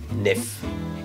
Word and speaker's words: NEF: radar sont des acronymes ce ne sont pas des mots mais on les prononce comme des mots donc les Fichi Nikon pte l'extension nef et se prononce nef et chez Canon c'est